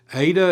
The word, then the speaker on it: eta: Ada is going to have a long a sound as in late.